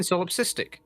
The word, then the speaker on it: solipsistic: It's not solop. It's solip. I'm saying solipsistic. Solipsistic.